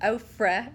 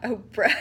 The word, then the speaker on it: Ofra: Ofra, not Oprah.